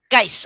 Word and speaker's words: Geise: It's close, very close. It's Geise. Geise. All right, not like Geise.